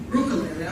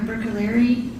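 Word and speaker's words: Bruccoleri: Brookeri, I'm sorry. Can you please state your name and spell it for the record? Sure. It's Dr. Rebecca Brookaleri.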